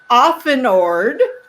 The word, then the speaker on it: Auffenorde: and can't see our names here her name is spelled dakot d-a-c-o last name often ord i got it right got it a u